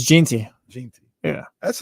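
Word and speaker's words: Jeanty: how to say his name Genty so it's Jey Jey yeah that's like that's one where like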